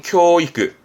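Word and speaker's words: 教育: 발음은 교이크, 교이크, 교사자입니다.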